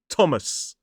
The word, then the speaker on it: Thomas: This word looks like Thomas, but the pronunciation is Thomas. 2 syllables, stress on the first, so you've got T-O-M, Tom, S, with a schwa in the second syllable.